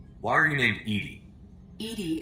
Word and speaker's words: EDI: are you late Edie Edie is the phonetic pronunciation of EDI that is an acronym